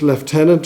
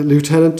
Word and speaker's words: lieutenant: as a uh first left tenant or a lieutenant depending on what um pronunciation in the core of